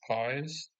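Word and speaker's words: παῖς: So apparently the original text used the word in Greek, I believe it's pronounced pies.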